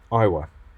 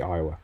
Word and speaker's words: Iowa: - is it quite I was it is it pronounced I wa I'll probably get a butcher some of these names English is not my strong point Iowa definitely Iowa pretty sure anyway we're gonna